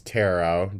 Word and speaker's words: tarot: the head let's do tarot am I pronouncing that wrong it's tarot but you probably don't even